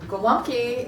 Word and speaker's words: gołąbki: So gołąbki is pronounced with the W for the L.